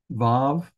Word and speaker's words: vav: Vav has a V sound.